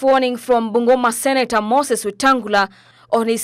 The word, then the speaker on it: Wetangula: Now, in this confusion that is going on, there is a man known as Moses Wetangula, aka the guy whose name rhymes with Lungula.